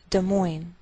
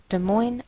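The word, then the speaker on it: Des Moines: Indiana De Moine Iowa note that we treat the name of this Capital like one word and the greater stress is on the second part so we say de Mo de Mo Iowa and I believe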